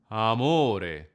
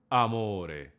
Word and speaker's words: amore: In order to pronounce it correctly, you have to open your vocal cords first, almost like adding a tiny H before the A.